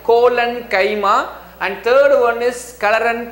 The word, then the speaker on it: collenchyma: pla parenchyma second one is colon chemo please pronounce it properly c o l l e n colon chima and third one is karan kaima now you